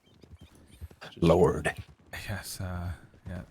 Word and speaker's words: Lorde: Lord. Yes. Uh, yeah. Spelled with an E on the end, though.